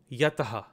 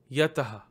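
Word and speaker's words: यतः: Factoring any kind of visargas or anusvaras present, you see that there is a visarga to the right of the ta, so it's actually pronounced as taha, taha. So this word reads as yataha, yataha.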